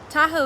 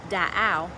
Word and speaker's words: Tahoe: the lands surrounding it tahoe is actually a mispronunciation of da ao meaning lake it is actually estimated